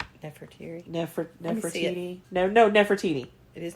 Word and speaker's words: Nefertiti: after the death of his beloved wife, Queen Nefertiti. Is that how you say her name? Nefertiti.